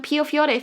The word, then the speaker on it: Piofiore: No, I say it Pipifiore, but I will introduce it as Piofiore for those people who are not ridiculous like me. You are definitely ridiculous. Yes. Piofiore Faded Memories or Piofiore no Bancho.